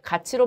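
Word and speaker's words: 같이: 자, 그 다음에 얘는 지금 자, 티읕과 이가 만나서 구개음화가 일어나니까 자, 이렇게 가치로 발음해야 되겠고요.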